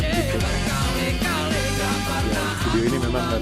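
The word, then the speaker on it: Tipe-X: Bukan Tipex sih, bacanya Tipex.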